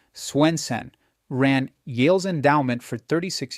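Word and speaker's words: Swensen: David Swenson, pronounced Swenen, ran Yale's endowment for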